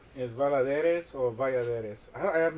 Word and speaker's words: Valladares: So, well, the reason being like the double L is pronounced Y like officially, but I know so